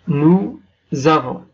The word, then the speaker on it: nous avons: Nous avons. En finalisant يعني le S أو حرف ال S هنا ينطق مع الحرف A ينطق بحرف Z.